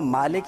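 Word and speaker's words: مالك: روایت کیا جاتا ہے، لیکن عموماً اس کا جو تلفظ ہے وہ مالک یوم الدین ہی کہا جاتا ہے۔ اب مالک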